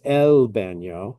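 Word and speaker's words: el baño: It's not It's not You know, you don't roll the L. you don't go elo. It's El Bano.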